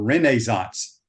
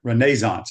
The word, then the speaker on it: Renaissance: from the Renaissance Club, or Renaissance, the way they pronounce it over there. Renaissance is how they pronounce it in Scotland.